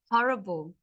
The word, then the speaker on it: horrible: Horrible. Like terrible. Horrible. Yeah. Because you don't pronounce H. Yeah, horrible. No, we say horrible.